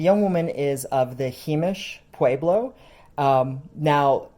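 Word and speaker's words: Jemez: nussbaum and the young woman is of the heemish pueblo now himish is the traditional pronunciation according to the himacha pueblo website whereas the modern pronunciation is heymus and they are a federally recognized tribe consisting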